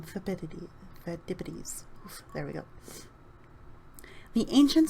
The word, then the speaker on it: Phidippides: There you go, that's how you say his name, Phidippides.